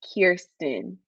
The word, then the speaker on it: Kirsten: gonna be okay so the correct way to say my name is kirsten kirsten i always say ear kirsten yes yes and if